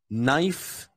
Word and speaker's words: knife: cool cool k n k n is never pronounced as it's always pronounced just as the K is silent so for example knee knife and no never no